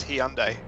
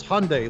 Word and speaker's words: Hyundai: said over here is he on day it's Hyundai it says so right on the friggin commercials Hyundai like Sunday and it's in and